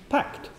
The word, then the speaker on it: PACT: in ordinary language so the name of the laboratory pact here in Grenoble Alps would be pronounced packed and in this talk